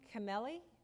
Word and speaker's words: Camelli: And for the Board of Cemetery Commissioners, William Camelli. Did I pronounce that?